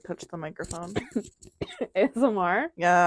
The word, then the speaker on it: ASMR: the microphone ASMR yeah I can never say it I'm always like ismer like I literally can't say it every time I like and then I get panicked and I try to think about how to say it and then I just go ASMR yeah I'm like I'm